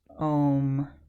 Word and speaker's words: ohm: Okay, it's written like the Greek letter omega. Okay, and it's pronounced ohm.